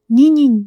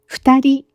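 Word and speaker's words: 二人: きました。2 人ではなく 2 人と発音します。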